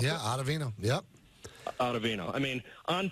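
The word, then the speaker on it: Ottavino: Chapman Banas chat Chapman Banas Brighton um and ovino is how you pronounce it yeah ovino yep ovino I mean on paper it looks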